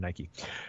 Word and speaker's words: Nike: signs with Nike Nike I say it wrong yep the Millennial thing I was just talking about I I always read it I read it forever and I'd already be saying Mike instead of Nike ok but let's let's